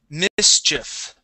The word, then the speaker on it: mischief: this word here um we do need to pronounce that ch ch sound okay Mischief Mischief Mischief there you